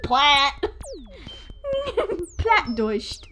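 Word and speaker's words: Plattdeutsch: or low german or lo saxon or platt pronounced plat deutsched it literally just means low german plat just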